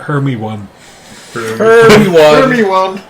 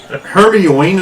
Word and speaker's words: Hermione: harry potter books and they were talking about her me one one hermione is the one i hear a lot yeah